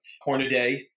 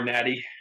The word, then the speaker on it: Hornady: I wrote a small piece for NRA Family, five names or 5 industry names that are always mispronounced. That was one of them. Hornaday, right? Or Hornady or Honnety.